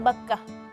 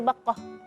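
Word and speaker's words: بكة: Ya, tadi ada salah satu namanya Bakkah. Ya, jadi harful kaf. Tadi Azkia agak sedikit menebalkan kafnya jadi Bakkah. Nah, kalau Bakkah dalam bahasa Arab itu serangga yang biasanya di tempat tidur.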